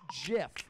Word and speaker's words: GIF: way it is i understand if you want to call it gif it's your it's your right go right ahead but at this business okay todd it's jiff all right and and